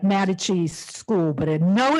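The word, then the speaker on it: Mattacheese: pronunciation is because it looked to me like Mata cheese school but I know it's not pronounced Mata cheese matakis okay all right um and then you know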